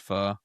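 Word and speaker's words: pho: It's pronounced fu.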